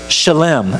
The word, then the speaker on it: shalem: Well, in the Hebrew tradition in the Old Testament, we get this word shalem. Now, I know you think I'm mispronouncing shalom. I'm not. Shalem actually is a derivative of shalom, which we know is the word peace.